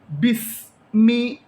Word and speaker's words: بسم: ബിസ്മി, ഈ കാണുന്ന അലിഫ് ഉച്ചരിക്കാൻ പാടില്ല. ബായിൽ നിന്നും നേരെ സീനിലോട്ട് ചാടണം. ബിസ്മി, ബിസ്മി.